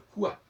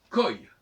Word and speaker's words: quoi: Donc on ne peut pas dire, on ne peut pas prononcer le OU, le quoi. C'est déjà une erreur. La deuxième erreur, c'est qu'il faut prononcer oi. Donc il faudrait dire koi, et pas quoi.